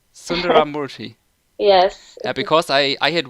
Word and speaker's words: Sundaramurthy: And depending on your name, how is your surname pronounced? Sundaramurthy. Sundaramurthy.